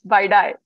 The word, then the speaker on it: bidi: indian name for cigarette uh and it also is spelled as bidi so yeah it's baidai folks all right so this with this we